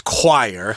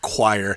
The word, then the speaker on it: choir: the word choir uh which of course is choir oh when i first saw that word i couldn't guess that one yeah i said yeah the wrong way but of course it's pronounced choir which is a group of singers usually in